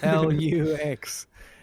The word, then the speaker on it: Luchs: You can think about the Latin word for light. Oh. LUCHS. Okay. Maybe you pronounce that LUCHS. Maybe. LUX.